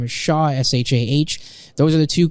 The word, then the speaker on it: Shah: Or on LinkedIn, you can search my name up, and that's spelled. For my first name. Last name is Shah, SHAH.